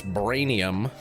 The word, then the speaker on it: Brainium: B R A I N I U M. That's braanium. And then hydrochloride.